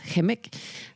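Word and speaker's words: Kukum: And, you know, like, I'm going to direct another movie, Kimik, you know, like, which is, I'm supposed to pronounce it, Kimik, the book of Michel Jean, which is all the tragedy that Inuits went through.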